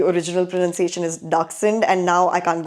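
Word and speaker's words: dachshund: I know back in India, we आर all used to pronouncing it एस डैशिंड। But apparently the German ore the original pronunciation is डारसंड।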